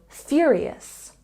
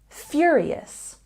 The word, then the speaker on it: furious: like a native speaker Furious has a stress on the first syllable knowing where to put